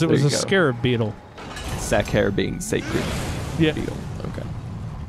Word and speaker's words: sacer: It's gonna be saucer, sacer, either one. Yeah, it's gonna be a hard C because Latin, because it's a Latin name for it.